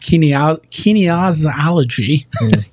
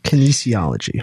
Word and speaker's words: Kinesiology: professor of health and Kine kology how do you say that word Kinesiology thank you uh at